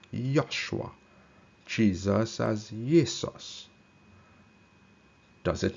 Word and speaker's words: Joshua: Joshua was supposed to be pronounced as Yoshua.